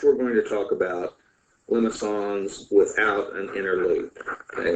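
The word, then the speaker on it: limaçon: The next type of polar graph that I want us to be familiar with is called a limacon. Limacon, the way that is pronounced.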